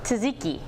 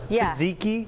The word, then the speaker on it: Tzatziki: Greek help me out Tzatziki yeah you do so you so you say both Tzatziki Tzatziki and I guess I